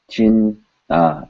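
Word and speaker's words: चिंता: Because chin, it represents an N sound with the teeth. Chinta.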